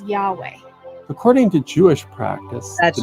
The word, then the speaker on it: Yahweh: The Lord's name is pronounced by most biblical scholars and Hebrew linguists as Yahweh.